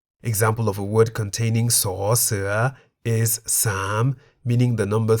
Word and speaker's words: ส: That is the Thai consonant saw, se, which we can summarize as a consonant that sounds like an S at the beginning of a syllable and a T at the end of a syllable.